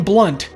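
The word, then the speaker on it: Blundht: at the clinic named Eddie Van blunt the H is silent how does a guy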